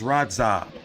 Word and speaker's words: Radzhab: So it's Radzhab. The H is silent. So the ZH is like one letter and shit.